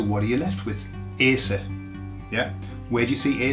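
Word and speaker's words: hacer: look at that verb the H is silent so what are you left with Asa yeah where do you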